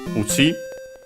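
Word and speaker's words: うち: That one uchi is unaccented again.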